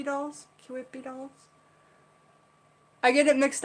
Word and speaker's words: Kewpie: these old vintage King whippy dolls I never pronounced that right ke w quippy quit p dolls Kewpie dolls i get it mixed up with the